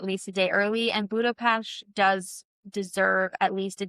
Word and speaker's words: Budapest: is round trip from Budapash which it's I know you think I'm saying it wrong because there is that st but it is a not a you can say it wrong but they will correct you I always of course